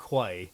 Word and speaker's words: Quay: And we Allen can spell Keys. key like key spelled like the Q, like Quay, Charter Quay. Oh yeah, yeah. Charter Key.